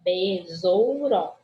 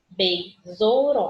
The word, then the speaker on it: besouro: Bi, be, né? Besouro. Besouro. A gente fala bi porque é o nosso som.